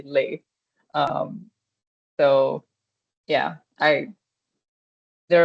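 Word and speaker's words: les: You can just simply say the word, say the article lei. Um that's like a life hack. you may have to spend more money, but then you don't have to be confused about if it is L or LA, you just say lei.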